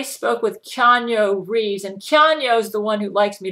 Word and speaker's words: Keanu: When I spoke with Keanu Reeves, and Keanu's the one who likes me to pronounce his name, Keanu Reeves. Keanu says, everybody pronounces my name wrong, Gail. It's not Keanu. He says, it's Keanu.